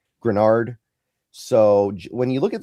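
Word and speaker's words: Greenard: Grunard. I know it's not pronounced how it's spelled, but Iard Granard.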